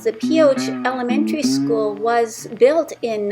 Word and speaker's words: Pioche: And right in front of me is the Pioche. I am pronouncing the name of the town correctly, according to the local.